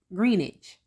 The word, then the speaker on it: Greenwich: I mispronounced the name of Greenwich it's actually pronounced Greenwich also the official ruling of blessing olusegun's death